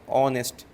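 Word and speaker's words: honest: यहां पे H silent है। इसको पढ़ते क्या पढ़ते? ऑनेस्ट पढ़ते हैं। एच क्या है? यहां पे साइलेंट है आपका।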